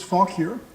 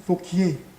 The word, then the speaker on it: Fauquier: war, this individual, Francis Fauquier, became governor. Many people wonder why it isn't Fauquier, pronounced like the French. It's because he's English.